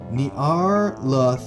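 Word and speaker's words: Nyarlathotep: There's no official way to pronounce that name since it is a madeup nonsense word, but I prefer narap, which is not what I said.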